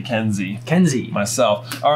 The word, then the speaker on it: Kenz: Currently held by Kenz or Kenzi, depending on your pronunciation of K-E-N-Z. Yeah, I would like to say Kenzi.